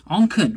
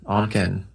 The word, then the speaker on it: Onken: today yeah good good just remember on the can on can oh it's like you've